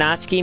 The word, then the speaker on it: Natsuki: new member idiot and natsuki made more cupcakes and everything and yes I know it says natsuki but it's actually Japanese and you're supposed to pronounce it ski it says Suki anyway